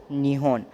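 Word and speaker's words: 日本: तो जैपनीज़ में जापान को अगर आप प्रोनाउंस करोगे तो आप बोलोगे उसको निहोन।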